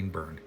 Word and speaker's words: Byrne: His name's John Byrne. We know how to pronounce Burn.